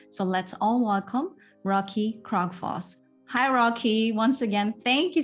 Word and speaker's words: Krogfoss: part on this show I'm glad that you uh pronounced my last name uh really good because most people butcher it so uh thank you